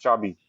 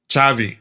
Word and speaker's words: Xabi: Just replying to it's not Zabi or Zabi. It's neither. It's Chabi, you know, with a C. Chavi. That's how it's pronounced.